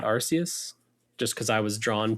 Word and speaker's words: Arceus: Arceus, I think Arceus is the official pronunciation there.